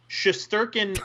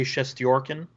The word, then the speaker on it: Shesterkin: Okay, so Shesterkin is the Anglo pronunciation, but if you were in his homeland, you would say Shestyorkin.